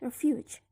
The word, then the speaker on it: refuge: Like, for example, in the word refugee, the stem is refuge. The suffix is E. In the word refuge, the stress is in the last syllable, fuge.